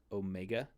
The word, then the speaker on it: Omega: shape Omega Omega uh and this is the long o so whereas you have the Omicron uh up here the Omicron is this is the short o a sound and the Omega is the long o sound so it's easy to